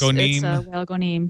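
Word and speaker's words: Wael Ghonim: Is it Whale Gonim? Does anybody know? I think they were saying in the video Gonim. It's Whale Gonim.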